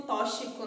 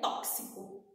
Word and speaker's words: tóxico: Algumas pessoas pronunciam tóxico, né? Ah, é tóxico, tóxico. Gente, essa pronúncia tá errada. Tóxico, tá errado. A pronúncia certa é tóxico, tóxico, tá bom?